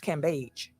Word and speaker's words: Cambage: this cabbage bay cape we've announced her name wrong it's cambage i'm american um but i'm just letting out her name is pronounced shout out to courtney